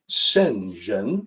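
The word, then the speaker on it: 聖人: further analysis sentence here's the opinion on that senjen that's the pronunciation so let me talk about this for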